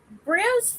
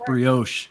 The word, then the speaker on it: brioche: eat carbs anymore so brielle's french toast is great but you say it right it's brioche also uh i'm tired i'll